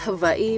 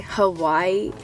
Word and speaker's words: Hawaii: It's actually pronounced Hawaii, but like, I'm so white. Mainlanders say Hawaii, but like I was born and raised in Hawaii. I just feel weird saying Hawaii.